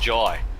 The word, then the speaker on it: Jai: Schultz, and I've been informed that the name is pronounced Jai. So I've heard Jai, both. is it? Yeah, and it's definitely Jai, straight from the horse's mouth.